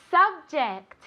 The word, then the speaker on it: subject: Subject. Subject. Vale, muy importante. Ject. Este sonido. J. Vale, otra vez es el sonido este como una CH, pero más suave.